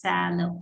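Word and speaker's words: phthalo: i'm using the big ones this is a sallow blue basically it is not written as sallow it's written as p h t h a l o but it's pronounced as sallow i really don't know what okay there we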